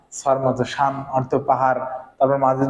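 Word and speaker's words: 빵: আছে, ইয়ং আছে, তাহলে এটার উচ্চারণ আমাকে আমরা অনুস্বরের মতো, পাং, পাং অর্থ কি পাউরুটি।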